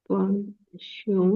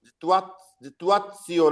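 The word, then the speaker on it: Situationen: देखो तोड़ो उसको। जितुआ, जितुआ, जितुआ, तुआ, जितुआ और सियोन, जितुआ, जितुआसियोन ऐसे पढ़ेंगे ना?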